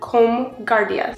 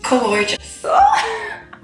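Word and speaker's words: Comhghairdeas: The G turns into an H, or no, I guess the G is silent. Maybe if it's surrounded by 2 H's, it like deletes what's in the middle.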